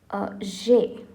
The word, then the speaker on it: j'ai: J and AI together is pronounced as J.